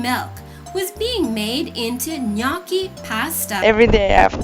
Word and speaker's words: gnocchi: Okay, the gnocchi, the correct pronunciation is gnocchi.